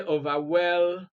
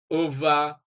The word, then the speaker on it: overwhelming: Let's look at D, and stress is on ing, which actually is completely unnatural. You cannot say overwhelming. No, it's unnatural.